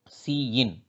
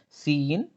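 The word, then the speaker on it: cin: of this input operator so it is read as c in and the double greater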